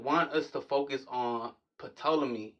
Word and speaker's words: Ptolemy: us to focus on Ptolemy, right? Ptolemy. And the P is silent.